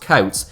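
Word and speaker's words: Coates: is his surname should probably actually just be pronounced Kouts since the name comes from his father who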